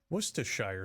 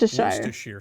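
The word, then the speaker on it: Worcestershire: Its name can be a bit of a tongue twister. Worstershire sauce. Worst. Worstershire sauce. Worst sauce. Wores. All these pronunciations are acceptable as are the endless ways to use this condiment.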